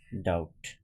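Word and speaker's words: doubt: আবার তাহলে টি এর আগে যদি বি থাকে যেসব শব্দে টি এর আগে বি আছে সেসব শব্দে কিন্তু বি এর উচ্চারণ হবে না। যেমন সকম কিছু শব্দ আমি তোমাদের দেখাচ্ছি। যেমন এখানে আছে দেখো ডেট ডাউট ঠিক আছে এখানে যেমন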